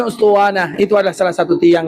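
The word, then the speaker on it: أسطوانة: Alif sin th wau nun ta marbutah. Ustuwana dengan bahasa Arab. Yang tak pandai bahasa Arab gak usah cari. Ada bacanya ustanah.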